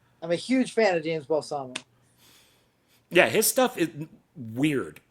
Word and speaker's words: Balsamo: That's James Oh, James Balsam. James Balsamo. Oh, Yes, I always say his name wrong.